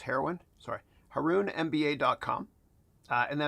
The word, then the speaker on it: Haroun: H A R O N pronounced heroin, sorry.